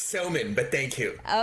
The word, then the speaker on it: Somin: I hope I uh pronounced your name correctly. It's Sman, but thank you.